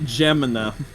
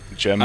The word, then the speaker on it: Jemima: Aunt Gemina. Is that not the syrup brand? Am I mispronouncing that? I don't Aunt know. Jemima. I was about to Jemima. say it is Jemima, Okay.